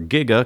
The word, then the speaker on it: giga: getting jiggy with it no because that's not how you say it its Giga everyone says Giga at least in the